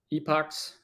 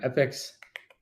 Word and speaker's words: epoch: dates as millisecond uh Epoch or epics I don't remember the way you pronounce it I think it's technically epic but I say Epoch all the time anyway so it doesn't matter all right so of